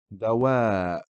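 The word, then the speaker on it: ضوء: Dawa. Here the Hamza is standalone, carrying a sukun, so the word is pronounced dawa.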